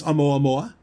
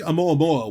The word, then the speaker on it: Oumuamua: I think it's Oumuamua. It's a Hawaiian word. I know that. Because that's it was one of the observatories in Hawaii that found it. What do you think Oumuamua was?